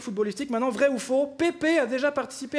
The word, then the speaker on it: Pepe: Par exemple, vous ne supportez pas qu'on appelle le défenseur portugais Pepe au lieu de Pep, qu'on dise Coupe Suisse au lieu de Coupe de Suisse, ou encore qu'on dise Eurofoot.